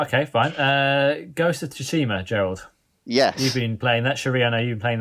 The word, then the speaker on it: Tsushima: um it's how have you not learned how to say the word shishima yeah tsushima i said that yeah you um the